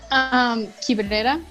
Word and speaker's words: Quibrera: Quibrera.